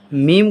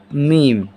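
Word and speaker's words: م: ये हो जाएगा मीम, जिसका उच्चारण हो जाएगा म।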